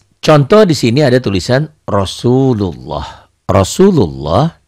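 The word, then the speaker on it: رسول الله: Kemudian lafaz Allahnya seakan-akan ini ada W, tapi W-nya jangan nempel, jangan Rasulullah, jangan. Sekedar lewat aja. Rasulullah.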